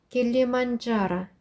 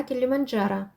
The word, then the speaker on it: Килиманджаро: 네, 여기도 역시 그 네, 제 발음이 있어요. 두 개를 합해서 자 이렇게 하시면 돼요. 킬리만자라, 킬리만자라, 킬리만자라. Какая самая высокая гора в Африке? Гора Килиманджаро.